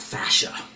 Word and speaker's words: fascia: about fascia and fashia. What how do you how do you spell that? F A S C I A. Okay. Okay. Not fashion, right? Not not fashion, but fascia.